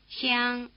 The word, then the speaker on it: 香: The tongue is held in a tight E position. Listen. 香、香、香。 Try repeating it, spreading your lips wide in a tight grin as you start the syllable.